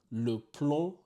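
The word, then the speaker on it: plomb: in English the B at the end of PL is silent PL lead is a heavy metal once again plal lead is a heavy metal if you found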